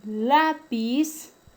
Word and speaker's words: lápiz: El término lápiz lleva tilde porque es una palabra grave y termina en una consonante diferente a N y S.